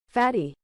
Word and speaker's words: Fatih: Let's actually see how you pronounce this. Fatty.